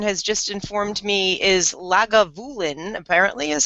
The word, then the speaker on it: Lagavulin: Oh, it's not Leafroy. It's Lagavulin. Lakavulin. I was like, how are you getting Leafroy out of that? Anyway, anyway, Twitter has shamed me into learning how to say it again.